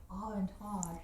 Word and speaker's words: Aventage: You just like saying Aventage.